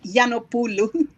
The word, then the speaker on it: Giannopoulou: How do you pronounce it? You did very well, believe me, for a first timer. It's Giannopoulou. Giannopoulou. It's a beautiful name. Yeah. Giannopoulou.